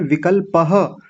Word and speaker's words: विकल्पः: बहुत सुंदर उच्चारण, लेकिन बस छोटी सी बात यहाँ पर है, विकल्पः, ये विसर्ग को पूरा बोलिए, जल्दबाजी में आप छोड़ करके निकल गए थे। विकल्पः।